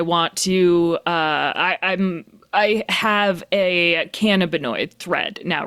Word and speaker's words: cannabinoid: I have a cannabinoid thread now, right?